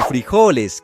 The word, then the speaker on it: frijoles: Pues en Colombia se le conocen como frijoles. En México como frijoles cambia la sílaba tónica.